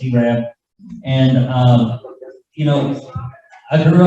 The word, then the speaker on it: Arab: It's spelled Arab, pronounced Arab.